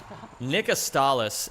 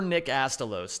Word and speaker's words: Astalis: Nick Astalis, and that's how his name is pronounced. Nick Astalis, and never Nick Astalos. Don't ever say that. It's not the correct way of saying it.